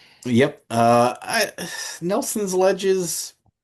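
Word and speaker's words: Nelson Ledges: Nelson's Sledges. Nelson's ledges. Um, you said it wrong, but we'll let you live. Uh, no, it's Nelson's ledges. Oh, I thought it was Nelson's Sledges.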